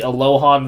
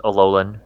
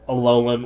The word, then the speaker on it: Alolan: The Bulbasaur and Squirtles The the Alohan version of Vulpix and Ninetales. Basically all the Alohan versions. I believe it's Alolan. Alolan, whatever the fuck. I like that It's, you went for the Gohan pronunciation.